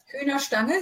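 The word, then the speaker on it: Hühnerstange: Is that pronunciation okay? Hühner Stange, yeah.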